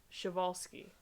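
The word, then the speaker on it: Przewalski: frogs and shivalski's horse yeah that's pronounced chevalski no i don't know why it's spelled with a p germ cell cloning is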